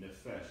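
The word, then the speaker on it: נפש: The nun, the fe, and the sheen, nephesh.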